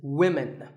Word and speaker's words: women: learners of English is women. This is, of course, because of the English language's crazy spelling system. But remember that we say woman for one woman and women for the plural. Women.